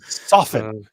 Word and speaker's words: soften: Soften. Soften. The T is silent.